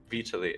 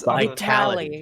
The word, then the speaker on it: Vitaly: I can never say his name right. Gosh dang it, Vitaly? Vitaly. Okay, I was Vitality.